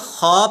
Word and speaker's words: خ: तो حرف ہے تو آپ نے عربی لب و لہجے کے اندر معروف طریقے سے اسے پڑھنا ہے، تو یہ خا پڑھا جائے گا، کھا نہیں پڑھا جائے گا،